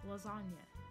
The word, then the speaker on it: lasagna: And then another one, lasagna. The G just gets cut out of there too. Lasagna.